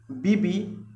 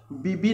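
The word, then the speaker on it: Beebe: इन 1934 Charles Williams बीबी pronounced बीबी नॉट बीब and Otis Barton wrist deeper into the ocean than anyone before them.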